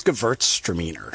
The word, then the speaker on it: Gewürztraminer: It's Gewürztraminer. So the W is like a V.